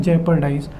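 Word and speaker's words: jeopardize: शब्द है जेपर्डाइज, इसका प्रोनाउंसिएशन है जेपर्डाइज।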